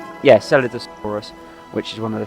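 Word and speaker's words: Scelidosaurus: of in the park, is the Celidosaurus. That's how it is. Yeah, Celidosaurus, which is one of the few European dinosaurs in the park.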